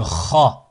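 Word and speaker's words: خاء: Ensuite, le Kha, Kha, Kha. Là aussi, ça peut être un peu compliqué. Kha, K, H, A, comme Khalid, Khalid.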